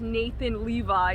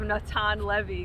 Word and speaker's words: Natan Levy: funny he was like now that i'm in america you know i'm going to be called nathan levi instead of natan levy because you know it's like the american pronunciation so i thought that